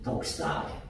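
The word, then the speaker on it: δόξα: 단어가 그렇죠 우리가 생각하는 뱀 독사가 아니고 헬라와 발음이 독사 독사 그게 뭐냐면 영광이라고 하는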